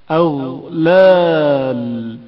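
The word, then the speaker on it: أغلال: اغلال غین کی آواز جریان رکھتی ہے اور اچانک منقطع نہیں ہوتی. اغلال اغلال غین کے تلفظ کے وقت نظام آواز کی حالت کو مشاہدہ کریں.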